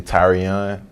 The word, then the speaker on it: Tyrion: called tyrion um it's actually tyrion that's how you pronounce it that's how you it's how you pronounce it tyrion like tyrion you know i mean